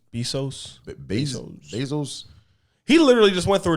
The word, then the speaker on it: Bezos: How do you pronounce that nigga last name? Bezos.